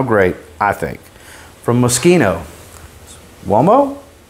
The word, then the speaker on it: Uomo?: From Moschino, Uomo? And I say it like that because there's a question mark in it. Uomo?